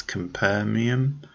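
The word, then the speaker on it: Capernaum: tale and that is this Lebanese film called kam permian so I'll just spell that for you it's c.a.p er na um that's compare Miam and it's the latest from the Dane the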